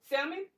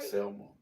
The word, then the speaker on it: Selma: Salmon? Am I saying it right? Selma.